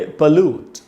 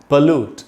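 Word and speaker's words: pollute: तो जैसे पोल्यूशन बोलते हैं, वैसे बोलेंगे पोल्यूट। जैसे हम बोल सकते हैं, please don't पोल्यूट the environment. आप पर्यावरण को प्रदूषित मत करिए, इसका मीनिंग है प्रदूषित करना, पोल्यूट। तो बोलेंगे पोल्यूट, पॉल्यूट नहीं होगा।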